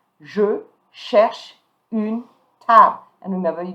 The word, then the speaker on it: cherche: So here you don't pronounce the E, but you're going to pronounce the sh. Je cherche une table.